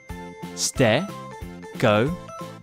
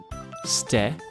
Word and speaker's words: Stegosaurus: Stegosaurus. Can you say it with me? Stegosaurus.